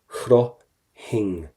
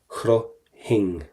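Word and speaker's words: chroithfinn: Number one, we are not going to pronounce the F, that has to go.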